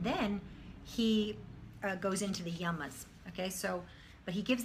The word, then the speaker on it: yama: first limb is called yama can you just say that there's no accent anywhere they're both short as it's very simple it's yama try saying that these